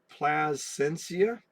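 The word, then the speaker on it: Plascencia: Plasencia.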